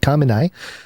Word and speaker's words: Khamenei: website said kamenei uh kamenai had told putin that is how you say it yeah khomeini had told